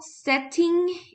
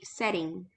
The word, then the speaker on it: setting: uh just rolling for setting if you pronounce the T like a tea this is more of uh London or UK pronunciation in American pronunciation would be setting setting setting okay yes